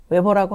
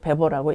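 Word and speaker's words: Weber: 책에 웨버라고도 나와 있는데 그 웨버라고 하시면 안 되고 이 막스 베버를 독일식으로 베버라고 읽으셔야 됩니다.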